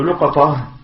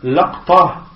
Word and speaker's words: لقطة: Et concernant le terme luqata, il y a 4 façons de le prononcer. Il y a luqata, il y a laqta, donc il y a luqata, laqta, luqata, afwan, luqata.